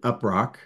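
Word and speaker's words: UP3RC: acronym up3 RC and we pronounce it upro and it's the undergraduate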